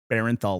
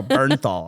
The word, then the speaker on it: Bernthal: I'm not supposed to say Barenthal like Berenstain Bears. So Bernthal. Apparently, he has said that's how you pronounce his name.